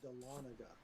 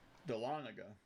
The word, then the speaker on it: Dahlonega: It's pronounced Dahlonega. Dahlonega.